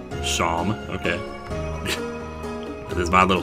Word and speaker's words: Seam: The name's Seam, pronounced Shom. Shom, okay.